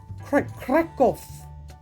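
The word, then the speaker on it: Kraków: I know it says Krakow, and that's not how you pronounce it. It's Krakow is how they pronounce it.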